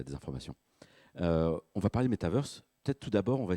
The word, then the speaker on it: metaverse: Et metaverse, avec l'accent américain, anglo-saxon, c'est comme un méta-universe. Donc je vais alterner parce que j'ai une mauvaise habitude, donc je vais dire un peu les deux.